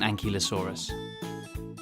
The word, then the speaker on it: ankylosaurus: you say that again and ki lo saw RIS how big was an ankylosaurus it was as long